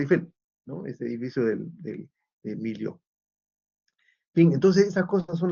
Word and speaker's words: Millau: más alto del mundo, Millau en Francia, o Millau, como se pronuncia, ¿no?